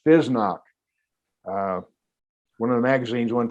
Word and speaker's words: FSSNOC: It's the letter F, FSSNOC, which we pronounce FESNOC.